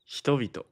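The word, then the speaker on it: 人々: What if it's multiple people? Hitovito.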